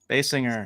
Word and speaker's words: Kim Basinger: Basinger.